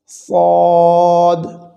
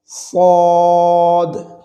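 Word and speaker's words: ص: স্থানগুলোকে নিয়ে এরপরে আসুন এটি একটি চাপা মোটা আওয়াজে উচ্চারিত হয়ে থাকে স ফদ জিহ্বার আগা সামনের নিচে দুই দাঁতের পেট ও আগার সঙ্গে লাগিয়ে সদ সদ আপনারা যদি একটু আমার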